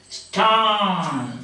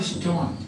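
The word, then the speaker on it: stān: See, they are pronounced like this. Stan, not stone.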